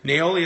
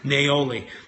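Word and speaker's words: niaouli: Naoli is spelled N-I-A-O-U-L-I. Neroli is Neroli. So don't quite confuse those two. So this is Naoli.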